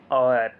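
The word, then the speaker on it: hour: this train run 7 kilometre an आवर, यहाँ और आएगा क्योंकि एच की वजह से यहाँ पे एच तो क्या है, कॉन्सोनेंट साउंड, कॉन्सोनेंट वर्ड है, बट इसका जो प्रोनाउंसिएशन होता है उसमें वोवल साउंड आता है, और का साउंड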